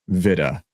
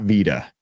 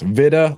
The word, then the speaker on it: Vida: And it is pronounced Vida, not Vida, just so everybody knows. Vida like Vidia.